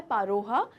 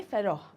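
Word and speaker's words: Pharaoh: तो यहाँ पर उसे कहा जाता है पारोहा। इन हिंदी प्रोनाउंसिएशन, हिंदी या उर्दू प्रोनाउंसिएशन, इंग्लिश में से कहेंगे फेरोह।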